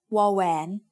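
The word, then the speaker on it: ว: It makes the sound w, just like the W in water. But when it is the final consonant in a syllable, it blends with the vowel to add a slight o sound.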